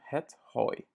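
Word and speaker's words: hooi: Ça se prononce de la même manière que hoi, qui est salut, mais ça c'est du foin. Ja? Het hoi.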